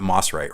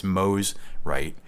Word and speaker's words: Mosrite: Is it Mosrite? It's not Mossrite, right? It's Mosrite history.